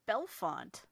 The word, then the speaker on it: Bellefonte: just gonna say Bellefonte Commish takes it it is belfont oh really I decided